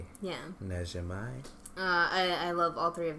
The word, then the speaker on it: Najimy: So yeah, and then Whoopi Goldberg, Maggie Smith, Kathy, I can never pronounce her last name. Najimy? Yeah. Najimai.